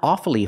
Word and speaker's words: awfully: awfully with hard it's awfully hard and it means it's very very difficult pronounce it with two syllables not awfully hard but awfully awfully hard and awfully sorry